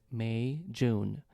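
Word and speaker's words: Meijun: people don't know yeah the pronunciation for my name um is May June like the months of the year in English May and June. So, just combine both of them.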